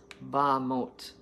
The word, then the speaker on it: Bamot: In Hebrew are called Bamot, pronounced Bamot. Wonderful.